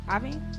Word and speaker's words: Iovine: Iovine? Yeah. Why is it L-O? I don't know. That's how you say it.